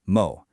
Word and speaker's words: も: And that answer is this little guy right here, the particle mo, pronounced mo.